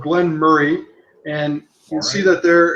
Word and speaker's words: Moray: It's from a distillery called Glen Murray, and you'll see that there it's a 40-year-old. Well, it's spelled Moray, M-O-R-A-Y, but when you're in that part of Scotland, you actually pronounce it Murray.